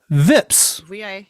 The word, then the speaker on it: VIPS: they pronounce vips because in korea it's pronounced vips vips korea's favorite steakhouse we